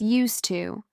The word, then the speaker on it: used to: In the past form, it's used to, with a D, even though in fast speech it can sound like there's no D there at all.